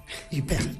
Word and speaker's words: Huppert: Y entonces no se dice Happer, ¿cómo se dice? Huppert.